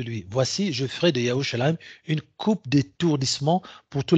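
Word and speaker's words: ירושלים: C'est-à-dire Jérusalem, en fait, ce qu'on prononce comme Jérusalem, je ne sais même pas si les Juifs eux-mêmes le savent, enfin les Juifs, ceux qui se prétendent comme tels. En fait, c'est Yerushalayim. Yerushalayim.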